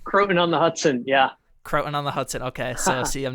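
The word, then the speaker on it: Croton-on-Hudson: was and how do how do you say it cotton on the Hudson croon on the Hudson yeah croon on the Hudson okay so see I'm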